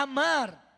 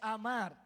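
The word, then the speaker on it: אָמַר: Dios, esa palabra viene de la raíz hebrea amar. Me gustó porque es una palabra en español, amar. ¿Sabe que dijo Dios? En hebreo se pronuncia amar.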